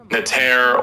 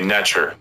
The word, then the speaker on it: NTR: You could say Nater or you could say Nature. Those are two ways I've heard it, and I'm okay with either one.